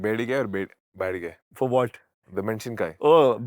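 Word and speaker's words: ಬ್ಯಾಡಗಿ: I need what's the correct pronunciation? Bedige or badige? For what? The menshinkai. Oh, ಬ್ಯಾಡ್ಗೆ ಮೆಣಸಿನಕಾಯಿ.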